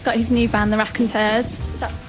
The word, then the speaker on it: Raconteurs: Now Jack's got his new band, the Raconteurs. Is that how you pronounce it?